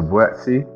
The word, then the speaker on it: Buatsi: my name is joshua buetsey but you can really pronounce it properly and i'll tell you my